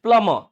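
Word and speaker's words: plumber: अब बताओ ये क्या है, इट्स प्लम्बर, इट इज नॉट प्लम्बर इट्स प्लमर। क्या है ये प्लमर, यहाँ पे बी भी साइलेंट है, समझे बात को, क्या है ये प्लमर, समझे।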